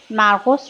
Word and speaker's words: مرقس: ابتدا انجیل مرق یا مرقس یا مرقص هستش که من آنچه که سرچ کردم در گوگل انواع تلفظها رو برای این کلمه به من داده بود من تلفظ مرقس رو انتخاب میکنم و با همدیگه این